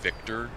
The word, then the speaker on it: Victor: Guys, make sure when you say Victor, make sure you really pronounce that V.